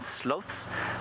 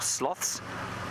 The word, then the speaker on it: sloths: South America that's where you find sloths or sloths depending on how you say it uh we don't get